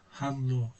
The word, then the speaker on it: Hallo: Bunu okurken L'yi tek olarak söyleyeceğiz. Halo deyip geçeceğiz. Halo Can. Hallo. Hallo. İki tane değil yani. Hello. Tek lile bu şekilde söyleyeceğiz.